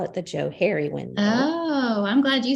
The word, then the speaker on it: Johari: It's the Joe Harry window, because it's named after a guy named Joe and a guy named Harry or Harrison. So they call it the Joe Harry window.